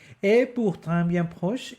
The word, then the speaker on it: et: I want to say Et pourtant bien proche est le temps des orages et des tristesses. E. That's how you say and in French.